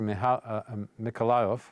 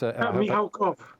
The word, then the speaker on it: Mikhalkov: But his brother, another film director, Mikhailov, is... Mikhalkov. Mikhalkov, yes. So, thanks.